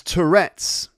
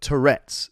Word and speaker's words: Tourette's: joke doesn't quite work because you say florets of broccoli but tourette's so the stress is on the different word so tourette's is a